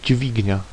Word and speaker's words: dźwignia: DZ with acute is pronounced dzi, as in word dźwignia, meaning a lever.